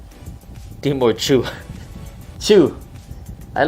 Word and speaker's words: Tszyu: Tszyu pronounced like zoo. Pow Tszyu is zoo.